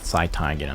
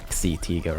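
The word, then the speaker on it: Xi-Tiger: abilities and that's why i think it's pronounced sci tiger not see tiger or something because he has some psychic or psy abilities and he could sense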